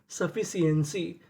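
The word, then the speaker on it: sufficiency: अगर आपको इंग्लिश की किसी भी मीनिंग में कोई अक्षर अगर दो बार लिखा मिले तो उसको पढ़ते खाली एक बार है। कहने का मतलब एफ हमारा दो बार लिखा है। लेकिन उच्चारण खाली एक बार करेंगे।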